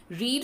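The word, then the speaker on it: read: जैसे कि रीड first form में रीड ही पढ़ी जाएगी, प्रेजेंट में यूज होती है ये, बाकी सेकंड फॉर्म में इसको रेड पढ़ते हैं जो पास्ट में यूज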